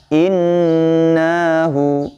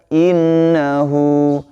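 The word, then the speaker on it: إِنَّهُ: Dan berhati-hati ya teman-teman sekalian, kadang nanya ikut terbaca panjang ya, tidak boleh nanti cara membacanya innahu, salah ya. Yang tepat adalah innahu, innahu, innahu ya, hunya panjang.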